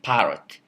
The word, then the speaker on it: parrot: It lasts longer, and it's pronounced with pitch variation. So we say parrot.